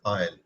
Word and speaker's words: isle: a small island is known as a aisle pronunciation is isle so let's have a brief overview of the